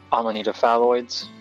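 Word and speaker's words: Amanita phalloides: the most dangerous indeed my namesake for example armanita phalloids that's how it's pronounced a monitor muscaria otherwise known as the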